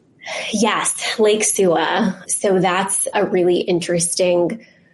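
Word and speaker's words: Suwa: How do you pronounce it? Yes, Lake Sua.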